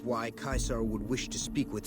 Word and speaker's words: Caesar: was pronouncing it as Caesar but he then pronounced it as kaisar so I guess he also pronounced it as kaisar true to kais there he is all right